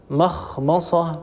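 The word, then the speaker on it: مخمصة: اللي هي مجاورتها للميم فتنطق هكذا مخمصه ما مخمصه لاحظوا ان الميم مفخمه ولا يصح ان نفخم الميم الميم هي مستفله وهي مرققه دائما ولا تفخمها العرب ابدا ومن مرض ايضا كلمه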